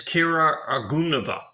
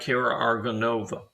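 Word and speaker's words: Kira Argounova: And it's Kira Argunova, not Kira Argonova.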